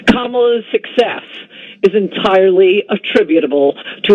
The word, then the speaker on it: Kamala: back to camelot or come well apparently it's kamala yes yeah um i think i was pretty close to pronouncing it correctly all these yeah i got